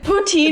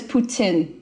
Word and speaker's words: poutine: Poutine is even kind of like a butchered way to say it. That's how like the most of Canada we say poutine, but like the correct pronunciation is Putin.